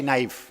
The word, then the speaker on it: knife: उसकी शुरुआत, इसकी स्पेलिंग है KNIFE, नाइफ। नाइफ मतलब चाकू, और उसमें के पूरी तरह से साइलेंट है। उसका उच्चारण होते हैं, प्रोनाउंसिएशन होता है तो NIFE, नाइफ ऐसा होता है, जबकि के साइलेंट है।